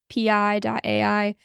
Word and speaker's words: pi: I like pi.ai.